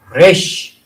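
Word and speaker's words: ר: 커프 커프 커프 커프 커프고 코프고 우리 우리 발음으로 키우기고 영어에는 큐 커프 커프 그다음에 레쉬 레쉬 레쉬 레쉬 레쉬 레쉬가 아니라 이것도 모관에서 나온 R인데 레쉬라고 합니다.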